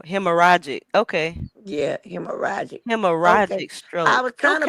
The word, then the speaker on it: hemorrhagic: Oh, so it was so it got you you pronounce hemorrhagic because it got the two R's. Uh-huh. Yeah, the two R's make you have to leave one because it ain't a vowel in between.